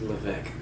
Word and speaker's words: Levesque: You didn't even pronounce the S. It's just Levesque.